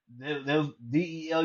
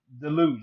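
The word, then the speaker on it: Deluge: preach there's a youth group b called delu d e l u g e I hate I hate when somebody pron I hate when somebody mispronounce it it's called they call it delu it's called pronounce Del is French it means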